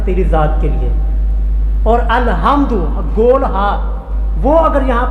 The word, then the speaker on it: الحمد: العالمین، لفظ ہے الحمد، ہا اور ہا کا تلفظ اور مخرج یہاں سے درمیانی حلق سے، لیکن ہمارے لوگ پٹھواری پنجابی الحمدللہ رب العالمین پڑھتے ہیں، ہا کی بجائے ہا پڑھ دیتے، سارا معنی تباہ ہو گیا۔ الحمد کا معنی ہوتا